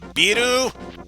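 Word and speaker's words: ビール: Wait, this is from the land of Japan. Let me repronounce that. Biru?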